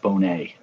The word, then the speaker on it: Bones: said boner it's bonez ricky bones pronounced bone a like lisa bonnet cosby theme we all